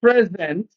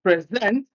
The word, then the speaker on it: present: also as a verb, stress the first syllable when it is an adjective, stress the second syllable when it is a verb. For example, present as an adjective, present as a verb, absent